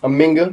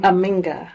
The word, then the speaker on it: Aminga: Aminga. Aminga. It's spelled A-M-I-N-G-A.